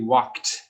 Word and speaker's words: walked: Verb 3, walked. So it is like a KT sound, walked.